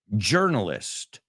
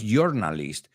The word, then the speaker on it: journalist: Y ojo con la pronunciación. Journalist. No es journalist, it's journalist.